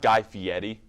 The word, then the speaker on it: Guy Fieri: Actually, guys, it's pronounced Guy Fieri.